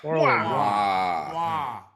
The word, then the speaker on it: Toro y Moi: Toro Y Moi. I'm glad we cleared that up. Round one. It's pronounced Neek the Freak.